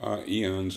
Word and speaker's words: IONS: Eons is, Eons. I use I guess an Italian pronunciation, but the International Association for Near-Death Studies is one resource you can use.